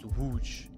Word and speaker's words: Łódź: I believe it's pronounced Łódź. That L with like a shard in it has a strange pronunciation.